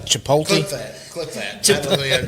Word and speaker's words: Chipotle: No, you say your T is soft. His T was hard. Chipotle or Chipotle? Chipotle, yeah. Okay. Chipotle. Yeah. Well, anyways. You mean it's not Chipotle?